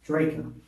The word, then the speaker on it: Drejka: You pronounce your name. Dra. Draco.